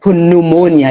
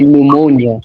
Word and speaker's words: pneumonia: Yeah, just like you don't say pneumonia, you say pneumonia.